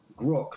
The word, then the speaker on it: grok: I found out that if you just change the spelling slightly but it's the same pronunciation grock means to comprehend or to understand something so if